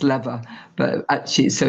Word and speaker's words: Lever: my name is Lever, although like a gear lever. Although obviously the way it's spelt, it can be pronounced lever, but actually, so it's easy to make that mistake.